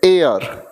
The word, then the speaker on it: heir: बात करते हैं तो इसकी प्रोनाउंसिएशन होती है AR।